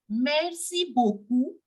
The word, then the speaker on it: beaucoup: sound of this T and we will simply pronounce it as merci beaucoup Mercy means thank you and when you say